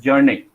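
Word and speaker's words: Bjarne: Okay, this B pronunciation cannot be is not there. So you are going to pronounce his first name as Jarne.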